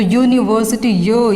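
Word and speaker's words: university: अब देखिए यूनिवर्सिटी, दिखने में तो यू हमारा वोवल है, लेकिन जब इसकी प्रोनाउंसिएशन होती है, जब इसका उच्चारण किया जाता है तो यूनिवर्सिटी ये जो साउंड होती है वो हमारी क्या होती है, वो हमारी कॉन्सोनेंट साउंड होती है।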